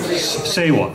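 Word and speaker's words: seva: in need in the spirit of siwa am I pronouncing that right sewa thank you thank you for fixing me and whereas through these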